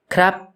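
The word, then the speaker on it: ครับ: If the vowel is short, however, the tone will be high instead for some reason, like a word I'm sure we're all familiar with. Krap.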